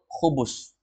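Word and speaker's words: خبز: ada yang jual hubus hubus orang bilang hu hubus tapi sebenarnya itu khubus ti bacanya hubus orang orang di sana bacanya hubus hubus itu artinya roti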